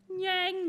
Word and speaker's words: nyang: My favorite is yang, yang, yang, yang, yang. It is spelled N-Y-A-N-G.